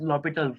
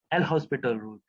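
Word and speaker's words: L'Hôpital: Actually, I am saying also L'Hospital, but it is pronounced as L'Hopital rule. I'm sorry, it is pronounced as L'Hopital rule. It's not L'Hospital rule. Where here H is silent, but it doesn't concern anymore.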